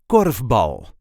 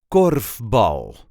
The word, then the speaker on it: korfbal: This is how we say KORFbal. KORFbal. There is a light emphasis on the first syllable. KORFbal.